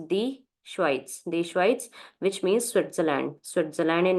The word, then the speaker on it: Schweiz: The you can we have to use the article with this also. So the Schweiz, not only Schweiz, the Schweiz, the Schweiz, which means Switzerland.